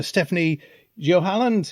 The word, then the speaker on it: Stéphanie Joalland: director, Frenzy's film production company, and his partner Stéphanie Joalland. Is that correct? Have I pronounced?